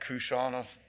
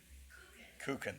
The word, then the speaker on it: Kuchen: Kuchan? Kuchen, thank you.